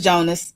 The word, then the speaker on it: Jonas: No, it's Jonas. It's Jonas. I'm just being funny. It's not. It's Jonas.